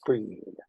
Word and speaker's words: Bridget: That's Bridget pronounced breed.